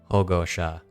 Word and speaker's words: Hogosha: It's Hogosha. Ogosha. Yeah. I have to hear it once before. 3 syllables.